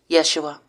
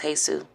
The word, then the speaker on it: Yeshua: Yeshua. Because there's many gods. My God name is Yeshua. Yahweh, Jesus. It's Hebrew, not Latin. It's not pronounced Jesus.